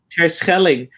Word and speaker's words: Terschelling: Yep, Terschelling.